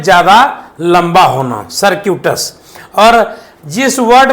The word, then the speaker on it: circuitous: सर्किटस जो है जब हम पढ़ रहे थे तो वो गलत है। सही क्या होगा, तो सर्क्यूटस, इसका मतलब होता है